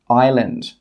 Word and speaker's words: island: The letter S can be silent when it comes before the letter L. For example, island.